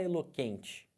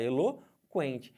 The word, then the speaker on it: eloquente: dígrafo por quê Porque você fala o eloquente você não falar eloquente você fala eloquente Então tem que o Porém você não vai ter esse que eu como dígrafo porque porque você pronunciou os dois se eu for olhar